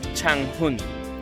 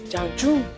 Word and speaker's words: Changhun: Hola, me llamo Chang-hun. ¿Qué? Me llamo Chang-hun. Changchun. Chang-hun. Chunchunchun. C-H-A-N-G-H-U-N. Changkun.